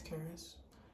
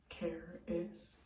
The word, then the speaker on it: Caris: my name is Caris it's spelled like Sharice but it's Caris get the pronunciation Right Care is thank you um and